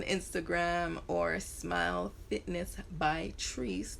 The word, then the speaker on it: Trice: or smile fitness by trees t-r-i-c-e many people pronounce it as trice i don't know why